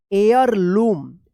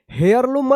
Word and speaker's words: heirloom: एयरलूम। एयरलूम पढ़ा जाएगा। यहां पे भी एच साइलेंट रहेगा, यानी हेयरलूम मत पढ़िएगा, एयरलूम पढ़ा जाएगा, ठीक है।